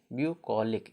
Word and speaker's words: bucolic: ओ है ना, ओ, तो BUCOLIC, ब्यूकोलिक, इसका उच्चारण क्या हो जाता है, यू हो जाता है।